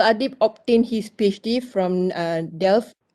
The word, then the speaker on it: Delft: Adib obtained his PhD from Delft. How do I pronounce it? Did I pronounce it correctly? Delft. Delft, Prof.